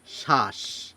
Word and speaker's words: শ্বাস: থাকে তাহলে সেই ব এর উচ্চারণ আমরা করি না আমরা এই বকে বাদ দিয়ে উচ্চারণ করি বটি যেহেতু শব্দের শুরুতে রয়েছে সুতরাং এই ব এর উচ্চারণ না করে আমরা বলি শ্বাস এখানে দন্তস এর উচ্চারণ